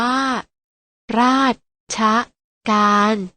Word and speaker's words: ราชการ: บ้าง นะ คะ เช่น ราชการ ออก เสียง ว่า ราชการ มา ออก เสียง คำ